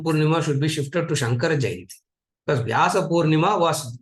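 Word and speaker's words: शङ्कर: actually, because of the linguistic way of pronunciation, it looks like Shankara, but actually, when you write, they write it like Shamkara. It is Sham, not Sang.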